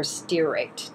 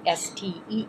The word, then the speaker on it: stearate: Another way would be to use zinc stearate, or stearate, depending on how you pronounce it, S-T-E-A-R-A-T-E.